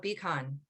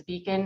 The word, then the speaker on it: BHCON: Carrie, if you could tell us about Beacon. Sure. So I work for the El Paso County Sheriff's Office, and our unit is called Behavioral Health Connect. Our acronym is BHCON, but we pronounce it as Beacon or Beacon, make it easier for everyone.